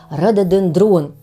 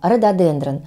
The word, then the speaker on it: рододендрон: украшает современные сады но многие почему-то до сих пор произносят это слово неправильно как рододендрон конечно же правильное произношение рододендрон но мне кажется что с